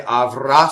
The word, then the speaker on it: avrà: Okay, so this is to tell us that the stress is on the last syllable, and that's not common in Italian, right? Usually in Italian, the stress is on the second to last syllable. So we would say avrà ssoffɛrto.